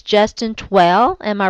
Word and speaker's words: Twell: I think that I know how to pronounce his last name. It's Justin Twell.